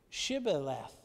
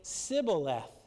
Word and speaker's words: Shibboleth: And if he said no, then they would say to him, "Then say Shibboleth." That's kind of interesting. And they would say, notice, they would say not Shibboleth, Leth, they would say Sibboleth, for they could not pronounce it right.